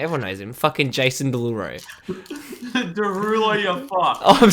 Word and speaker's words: Derulo: Derulo. There's an O at the end. Yes, Derulo. Jason Derulo. Not Deluro. Derulo.